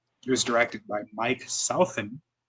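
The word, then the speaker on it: Southon: It was directed by Mike Southen. I believe that's how you pronounce his name. It's S South and then O-N.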